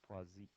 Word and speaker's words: Poisson: I didn't know how to say it for a long time, and then a couple of years ago, one of you folks, one of my athletic training majors, told me that it's Poisson.